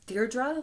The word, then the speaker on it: Dierdre: So it's Dierdre, like a deer, and then dra.